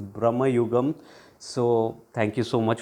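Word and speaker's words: Bramayugam: review of Brahma yugam or should I say Brahma yugam uh my pronunciation I think was pointed out in some of the comments it's Brahma yugam so thank you so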